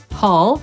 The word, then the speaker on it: hall: Tu usłyszymy to słowo w wersji amerykańskiej, hall, i tu będzie oznaczało właśnie korytarz.